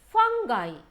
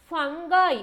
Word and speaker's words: fungi: Number two, fungi. Fungi or fungi. Both the pronunciations are okay.